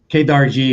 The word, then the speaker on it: Kedarji: devotees and disciples refer to me as but kadar G is fine and and that's how you pronounce it leaders you that I got it